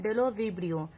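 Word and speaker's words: Bdellovibrio: होगा option number A यानी डेलो विबियो B silent होगा डेलो विबियो एक ऐसा बैक्टीरिया है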